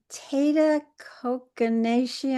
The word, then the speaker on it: Tata Kokanashi: Tata Kokanashi, I'm probably not pronouncing that right. You actually pronounce it very well.